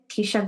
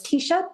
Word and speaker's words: Teisha: And I'm also on LinkedIn, Teisha, which is a mouthful. And I'll spell it out because it's not quite the normal name. So it's Teisha, Teisha, and then as in Paul, IE.